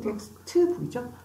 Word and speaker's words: textbook: textbook, textbook이죠? 읍스, 읍스, 어머, 엄청 많네. 뭐가? 자음이 뒤따 많죠? 그래서 여기 중간에 있는 애들은 살짝, 살짝 없는 것처럼 발음이죠. textbook, 시작. textbook, textbook. T가 정말 안 나네요.